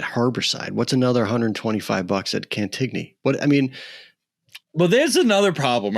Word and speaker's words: Cantigny: But if you talk to the staff, they'll tell you Cantini. And I'm like, what is it? That drives me nuts. I've never heard. I guess I've never heard anyone else other than you and me pronounce it. So Cantini? Which is silly. Cantini? Yeah. It's silly. It's Cantigny. I'm going to say it like its name. It's Cantigny.